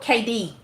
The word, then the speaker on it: KD: Oh, KD. Oh, it's pronounced KD.